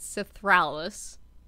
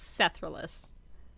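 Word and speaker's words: Sethraliss: which a lot of people keep saying it wrong as cethralis it's sethralis get it right yeah hermione yeah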